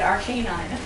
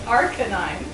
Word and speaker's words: Arcanine: do that Aran no because I said Arcanine apparently it's Arcanine well that's basically the point better than arcan that's basically the point